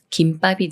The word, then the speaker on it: 김밥: 다음에 바위라는 말이 와서 김밥이 되는데요 이렇게 미음 받침이 초성 비읍 만나면 쌍비읍 술인 뿌로 바뀌면서 김밥이라고 읽어요 김밥 김밥 예문 읽어